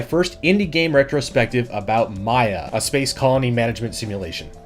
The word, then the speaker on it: Maia: that he's been designing called Maya or he pronounces it may whatever it is I